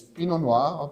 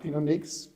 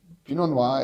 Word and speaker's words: Pinot Noir: in French, and it's Pinot Noir, not Pinot Noix. Pinot Noir, as you don't pronounce the last letter, so it's Pinot Noir as Pinot Noir, and I found it very interesting.